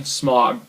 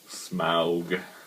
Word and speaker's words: Smaug: And then Smaug.